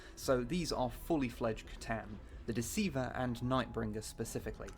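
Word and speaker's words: C'tan: one of 2 Catan, not Catan shards, Catan. As mentioned earlier, this was before they decided to have the Necrons do the Klingon thing and kill their gods, so these are fully fledged Catan, the Deceiver and Nightbringer specifically.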